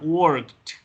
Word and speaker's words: worked: Y cuando pasa eso, el sonido va a ser de T. Entonces va a sonar worked.